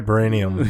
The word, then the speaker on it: vibranium: You'll have to say the right pronounced one. vibranium.